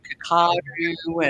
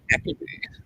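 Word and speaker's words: Kakadu: it's from kadoo and I've heard everyone trying to pronounce kakado and it's all kako and everything but kakado yeah cockadoo K kadoo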